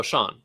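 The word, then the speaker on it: Shan: correctly what's that koenig how do you say is it shen or sean oh sean okay cool okay and we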